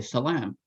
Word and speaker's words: salam: That's why in Hebrew you say shalom, that O in the second syllable. In Arabic and other Semitic languages you say salam, with a long A in the second syllable.